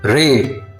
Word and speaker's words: レ: Ra, ri, ru, re, ro.